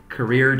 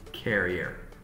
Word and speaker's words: career: Career, jemmer queen. Career is not pronounced as carrier.